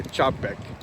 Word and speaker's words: Čapek: So tell us about the evolution of the robot as it first put out by Čapek. I hope I'm pronouncing his name Yes, correctly.